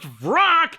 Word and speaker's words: Vrak: Except his name is pronounced Vrak, so the rhyme doesn't work.